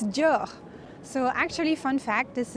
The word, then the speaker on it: Dior: So pronunciation is Dior. So there's the R at the end that might be a bit tricky. Dior.